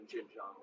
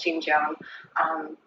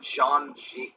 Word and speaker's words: Xinjiang: At least she didn't mispronounce Xinjiang like that kid I debated last time on the Leftward Bound. He kept calling it Zhang.